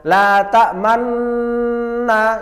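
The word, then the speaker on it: لا تأمنا: Contohnya la ta'manna, ya salah. Atau di akhir la ta'manna. Tidak. Jadi di tengah-tengah dengung harus mecucu. Sebagai syarat ada nun berharokat dhammah, tapi dibuang.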